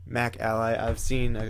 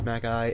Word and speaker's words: Macally: MacAlly. I've heard a couple of people say Macally, but I believe it's MacAlly.